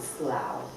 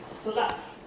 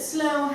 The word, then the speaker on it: Slough: Unfortunately, John had quite a view on Slough. Why are you laughing? Because we once knew a chap who pronounced it slough, as in the cast of a reptile's skin.